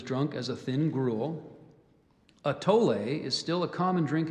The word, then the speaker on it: atole: or that is drunk as a thin gruel a tolay is still a common drink in Mexico and is mainly served with sweet flavorings such as fruit vanilla and chocolate a t o l e atole that is correct yeah the way the